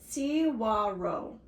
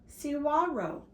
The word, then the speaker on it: saguaro: Saguaro is a Spanish word and it's pronounced Cihuaro. Cihuaro.